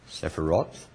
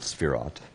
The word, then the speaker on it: sephirot: called these are called sephiroth spherot actually if i was going to write it accurately it would be s colon spirot not sephirot are we paused there we go good not sephiroth but spirot and that would mean